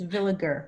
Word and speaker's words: Villager: I didn't butcher it it's villager with a hard G okay I'm so glad